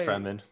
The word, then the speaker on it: Fremen: I honestly don't know how you pronounce it. Yeah, but why? It's Fremen.